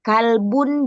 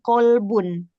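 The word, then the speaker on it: قلب: Karena lafaz itu bacaan yang ee salah penyebutannya, bisa salah arti seperti kalbun dan qolbun. Kalau kalbun itu kalau qolbun, qolbun hati, kalau kalbun binatang, anjing gitu.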